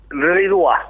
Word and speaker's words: Ridois: Comentame cómo es la correcta pronunciación de tu apellido. Ridois.